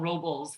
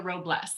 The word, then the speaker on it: Robles: my name right so i've been called robles many many times which is fine all right but it's robles you know and it